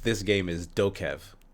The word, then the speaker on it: DokeV: f this game is dokev oh no i'm sorry not doka v i've been saying it wrong that whole time have you heard of